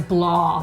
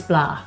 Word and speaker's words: blaa: Because Kevin pronounces it kind of fancy. He says blah. No. It's like, that's not how they say it in Waterford, Kevin. They say blah. No. So it probably, Blaas, it's Blaas.